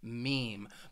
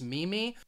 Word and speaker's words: meme: had people say it's Mimi but this word I think it slightly it's pronounced the way it's spelled with that long e sound meme meme I'll give